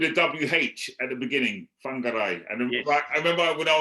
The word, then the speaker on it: Whangarei: Which you spelled with a WH at the beginning, Whangarei. And I remember when I was there, I kept to call it Whangarei, and I said, "No, Shaun, it's Whangarei."